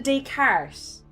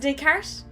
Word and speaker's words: Descartes: I know his name, but I always fuck up the pronunciation. Is it a Descartes? Is it Descartes?